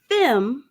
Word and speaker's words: FEME: gonna mess it up y'all now are you pronouncing it femme yes exactly ah and I was in there